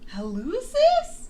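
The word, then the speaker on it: hallucis: Helucis.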